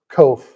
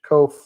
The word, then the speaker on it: Koch: So we pronounce it Kof, rhymes with loaf.